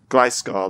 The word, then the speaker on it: Gliscor: I actually quite like, I don't know how it's pronounced. Gliscor? Gliscor, that's it.